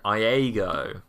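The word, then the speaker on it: Iego: a planet that is not called Lego, even though my subtitles thought that it was. Yeah. It's called Iago, spelled with an I.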